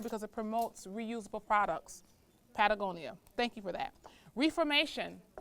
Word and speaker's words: Patagonia: Speaking of the first one is Pentagonia. Did I say that right? Pentagon. Patagonia.